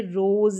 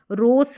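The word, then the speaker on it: rose: practice कर सकते हैं अब इसको जैसे रोस नहीं पढ़ते हैं वाइस नहीं पढ़ते वाइज पढ़ना पड़ता है नोस नहीं पढ़ते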